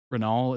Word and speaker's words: Renault: Renault, it's silent.